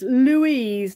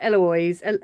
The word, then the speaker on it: Louise: It's Louise, not Eloise.